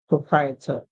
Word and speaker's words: proprietor: So here our word is pro, pro, then pur, and I, et, propriet, and proprietor, proprietor.